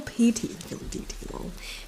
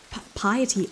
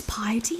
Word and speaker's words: piety: about how important filial deity feel no i pronounce that one how do you say it in fact filial pt filial is like there there um what is it piety oh my god it's piety i thought it was pt this whole time